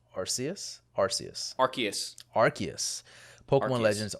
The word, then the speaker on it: Arceus: rob was pokemon legends arseaus right that's pronounced um arceus arceus arceus arceus pokemon